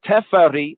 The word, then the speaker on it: Teferi: But Teferi means the one to be reverenced, the one to be respected. We say respected, or in another sense, the one to be feared. But it's Te-Fe-Ri, not Fe-A-Ri, Fe-A-Ri.